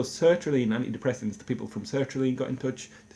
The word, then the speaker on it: sertraline: in touch to say I've been mispronouncing their name. They're happy for all the good exposure that I'm giving them. They're hoping that they'll get a few more people on them through this YouTube channel. But I've been pronouncing it cetraline.